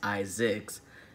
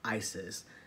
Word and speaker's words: Izix: exactly a junior so instead of Isaac it's Isaac's and it spelled a